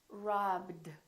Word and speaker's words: robbed: Do we say robbed? No, this one is not a T. This one is robbed, robbed. So this one becomes a D.